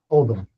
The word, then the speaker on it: Oldham: How do you pronounce it? Oldham. Oldham.